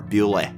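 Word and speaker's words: Bewlay: somewhere in central England called bu or bule as the locals pronounce it thomasine is a self-proclaimed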